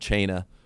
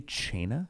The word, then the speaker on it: Cena: Do you say Chena? Yeah, that's how Santino Marella used to say his name. He would mispronounce everybody's names on purpose.